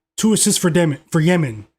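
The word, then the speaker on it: Demin: Two assists for de for Yemen. It's is spelled Demen, but they pronounce it like Yemen.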